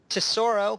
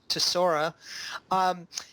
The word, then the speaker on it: Tesora: guests Amrith kumar from tesoro which i've been mispronouncing thank you for correcting me on that it is in fact to Sora and again if you